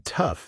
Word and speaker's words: tough: And in tough, the o u g h makes an uhf sound. Tough, like stuff or enough. Rhymes with rough.